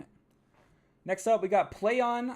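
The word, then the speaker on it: Plaion: next up we got play on I believe how you say it p l a i o n will publish Uncharted director's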